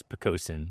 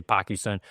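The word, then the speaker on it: Poquoson: of the town that I live in is picosen most people don't know how to say it it's most people say pakon but it means low-lying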